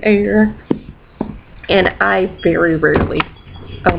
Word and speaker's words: Eyre: would even really know how to pronounce hair jane eyre and i very rarely